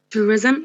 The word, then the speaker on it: tourism: Although, by the way, although it has a suffix ism. Yeah, but it's pronounced ism. Whenever we have the suffix ism added to a word, although it has no schwa, but the transcription would be ism with a schwa after the z sound.